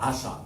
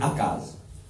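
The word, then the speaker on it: Achaz: 28, le roi Akaz, on appelle ça Acha. Mais sa prononciation, depuis l'étymologie, sa racine grecque, sa racine hébreu plutôt, c'est Akaz.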